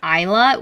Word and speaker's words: Isla: like the thing is, Isla, this woman uses the name Isla, which has an S in it, but it's silent.